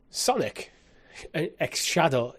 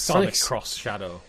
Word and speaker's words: Sonic X Shadow: way possible so yeah Sonic X Shadow how I hate that how Sonic X Shadow generations how do you say the X cross cross Sonic cross Shadow Sonic cross Shadow generations